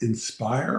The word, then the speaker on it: Insper: 9th, I was at, that's pronounced Inspire, but Insper. Oh, and breaking news to Michelle. Yes. So, Insper or Inspire is a an assisted and memory care uh, company.